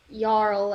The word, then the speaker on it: jarl: i didn't catch it jarl is pronounced yarl and it is a